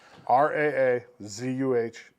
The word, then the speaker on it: Rosalynn: Yeah, Raazuhluhn. there's a Z in there.